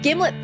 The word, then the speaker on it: Gimlet: This is a jar of Gimlet peanut butter, a brand primarily noted for arguments about how to pronounce it. According to manufacturer, it rhymes with Himlet.